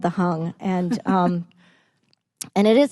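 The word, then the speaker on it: Hang: an instrument called the hung it's prince it's spelled h-a-n-g but pronounced hung and and it's it's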